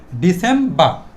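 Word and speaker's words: December: Syllable তিনটা syllable তিনটা সিলেবলকে আমরা লাস্টের আটটাকে সাইলেন্ট রাখবো। তাহলে কি দাড়াইলো? ডিসেমবা।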